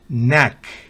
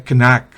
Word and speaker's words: knack: dan índice dedo índice la k antes de n al comienzo de una palabra no se pronuncia por ejemplo ni rodilla nack maña destreza de uno